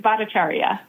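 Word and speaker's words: Bhattacharya: NIH his initial how do you pronounce that name again Dr. Norton, if I'm pronouncing is it Bacharia? That he's the director of NIH. Got it. That's Yeah, that's correct.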